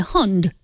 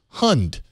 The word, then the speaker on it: Hund: The first part sounds exactly like saying ducks and hund is similar to hood, but with an ND. Hund.